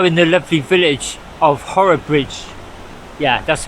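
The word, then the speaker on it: Horrabridge: so I'm now in the lovely Village of horror Bridge yeah that's how you pronounce it by the bridge here with the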